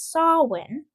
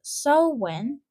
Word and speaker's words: Samhain: While the anglicized anglicized pronunciation is often rendered as sawin s a h w i n. other phonetic renderings such as so when so so in what